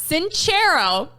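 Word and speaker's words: Sincero: Jen cero who we have been saying her name wrong forever so we apologize Jen Jen cero and Jen says everybody arrives on the planet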